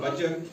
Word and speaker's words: butcher: इसी तरह से MATCH, match, T silent, BUTCHER, बचर, T silent, CATCH, catch, T silent, SWITCH, switch, CH से पहले टी तो टी साइलेंट।